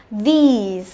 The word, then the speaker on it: these: Cái này sẽ là y ngắn, this, this, đấy, phát âm rất thoải mái miệng đúng không? This, thế còn âm này phải căng ra là these, được chưa nào? Đấy, this, These, đừng có phát âm cứ this this hết, chả biết phân biệt từ nào với từ nào cả, đúng không?